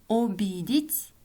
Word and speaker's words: обидеть: Пишем «обидеть», произносим «обидеть». Пишем «один», произносим «один». «Однажды», «однажды». «Ответить», «ответить». «Опора», «опора». Запомните, в начале слова безударное гласное «о» произносится как «а».